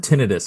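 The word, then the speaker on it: tinnitus: And I'm like, no, it's tonitis. And I'm not ever going to be able to change that. Yeah. If you look at the spelling spelling, if you look at the spelling, it doesn't support tonitis.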